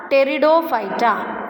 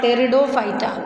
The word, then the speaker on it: Pteridophyta: Okay, then next group of plants are Pteridophyta. Okay, so P is silent here and we call it as what? Pteridophyta.